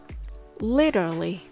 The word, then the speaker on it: literally: lit lit litter often most people get lazy with the T sound so they don't push